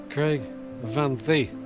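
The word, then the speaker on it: Craig y Fan Ddu: you can just see over my shoulder here Craig Van Thee, as I was told to pronounce it, just towering over the forest there,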